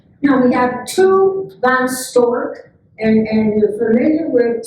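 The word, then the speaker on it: Storch: we have two van stork and and the familiar with student at Sacramento spelled s-t-o-r-c-h but the proper pronunciation is like the bird that store that with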